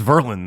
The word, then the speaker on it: Verlin: Well, so my first name is Verlin, though. It's a family name from North Carolina, like Berlin.